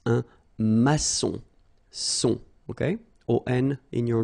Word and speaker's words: maçon: Here you can see that we've got this little cédille beneath the C, okay? And it just means that you will pronounce this C as S, okay?